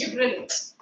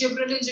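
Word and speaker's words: gibberellins: Gibbrilin Gibbrilin the pronunciation is gibberins. So when we are talking about gibbrilins the pron the pronunciation is gibberillins.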